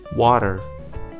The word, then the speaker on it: water: Water, daughter, matter, potter. Did you spot this? When the T appeared in between two vowels, then the T was acting like a flap T, or you can simply